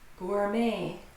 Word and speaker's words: gourmet: The T is silent, completely silent. Gourmet, another French one, of course, anything related to food or art.